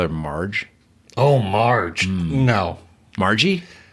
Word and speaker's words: Margie: Margie? Rhymes with lethargy.